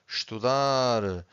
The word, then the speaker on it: estudar: Every time you have a word that ends with an R, you stress the final syllable, okay?